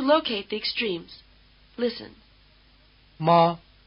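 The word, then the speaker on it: 妈: will let you locate the extremes list listen ma ma again mother and horse High versus low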